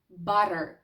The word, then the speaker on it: butter: По-друге, коли в нас є подвійна літера т. Подвійна літера т, як у слові butter, butter.